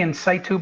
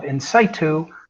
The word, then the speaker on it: InSitu: Actually, you used the proper Greek pronunciation, or Latin, I should say, in situ. But the marketing aspect of InSitu means inside of you. So we say InSitu Biologics.